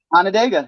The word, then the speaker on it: Onondaga: did I pronounce it right? Onondaga.